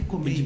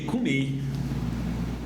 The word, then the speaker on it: comei: O próximo livro é o vinde e comer. Comer. É essa a pronúncia. Isso aí. Vinde e comei.